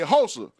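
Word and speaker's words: Xhosa: the HOSA and and we say HOSA because when we spell it we can't even identify with that letter here we put an X which means I know because it's pronounced like HOSA or something like that yeah those are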